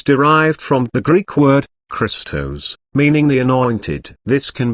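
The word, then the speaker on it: Χριστός: from the Greek word Christos meaning the anointed this can be translated as the Messiah phonetically the Greek word sounds like the word Crystal this is referring to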